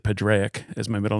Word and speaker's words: Padraic: My middle name is Parg, and it's P-A-D-R-A-I-C. So I grew up saying Padraic, but I've been, you know, over the years, people have told me that it's pronounced Parg.